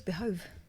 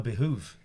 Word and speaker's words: behoove: Americans say behoove all the fucking time, don't they? I thought it was behove. No, behoove.